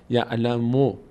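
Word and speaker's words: يعلمو: یعو یعلم میم رو نباید بکشیم. اینجا ضمه داره یعلمونشه. یعلمو یعلمو خیلی فرق می‌کنه این د تا تلفظ با هم. مو هست مو نیست. مو زمه هست صدای کوتاه هست نکشیده یعلمو یعلمو یعلمو یعلم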